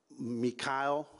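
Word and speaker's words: Meechaiel: As a result of this, we've identified a suspect named Mikhail is the way he pronounces it, spelled M as in Mary, E-E-C-H-A-I-E-L. Last name of Kreiner, C-R-I-N-E-R.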